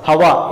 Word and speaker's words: hour: Hava, an hour. How do I look at how, H is silent, hava.